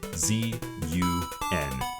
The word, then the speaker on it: ZUN: Z-U-N. Zun. It's a play on Jun, the first syllable of his name.